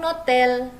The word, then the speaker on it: hôtel: Kalau dia huruf vokal seperti hotel dalam bahasa Prancis itu, hotel itu adalah H-nya itu tidak diucapkan, jadi dianggap dia huruf vokal atau dia tidak ada.